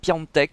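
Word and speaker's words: Piątek: pour milan et enfin pianoteq qu'il faut prononcer comme ça je crois plus en teck qui seul face au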